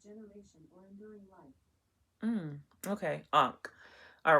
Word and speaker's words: ankh: It is pronounced as Ankh.